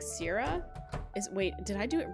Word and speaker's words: Cera: It said Sarah, but it's spelt with a C, C-E-R-A. Sarah? I guess it's Sarah, but I always thought it was Sarah. Sarah. Maybe it's Sarah.